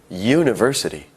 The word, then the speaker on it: university: again that's an hour university starts with a u a vowel however it sounds like it starts with a why ye university however when we write